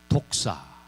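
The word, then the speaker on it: δόξα: 여기서 이 영광이라는 단어, 이 영광이라고 하는 단어는 어떤 뜻을 가지고 있냐면 독사. 좀 뜻은 안 좋아요. 단어는 안 좋아요. 독사. 헬라어 발음이에요.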